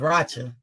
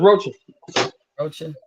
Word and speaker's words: Rocha: on the scar too oh that's how you pronounce it I thought it was ratchet no it's roaches damn yeah I gotta